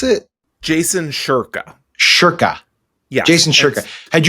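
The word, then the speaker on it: Jason Shurka: How do you pronounce it? Jason Sherka.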